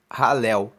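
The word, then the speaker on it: Hallel: se chama alu egípcio alu se escreve h a l l e l halu e alu egípcio é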